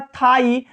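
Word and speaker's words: thigh: तो यहां पे क्या है, GH क्या है, साइलेंट में है। जैसे लिखा है थाई, स्थाई लिखा है तो क्या है यहाँ GH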